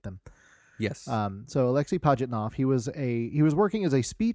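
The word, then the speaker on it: Pajitnov: um so uh you you have uh alexi patnov he was the uh i'm sorry lexi pajitnav i i looked up uh possible uh correct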